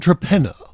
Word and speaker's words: Torpenhow: super province of England called traena now it's not actually spelled traena it's spelled as you might uh phrase it phonetically or explicitly torpenhow now the funny thing